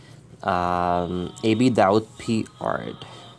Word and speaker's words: AbDaudpArt: okay so first of all to start off a bead out Pete art that's the correct pronunciation of my page and and on the